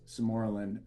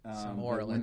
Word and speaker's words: sermorelin: So, especially that combination of enclomiphene and sermorelin, those can take a little bit. Sermorelin, not sermorelin. Potato. I mean, Yeah, people call it things. good. You actually might be pronouncing it correctly. Samorlin's easier for me.